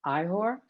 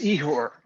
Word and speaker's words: Ihor: you i am uh i'm apologizing if i am mispronouncing your name ihor can you unmute yourself and ask a question it's igor all right all right